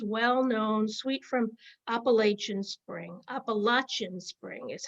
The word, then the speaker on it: Appalachian Spring: perform aaron copeland's well-known sweet from appalachian spring appalachian spring is how it's pronounced including the famous peace simple gifts this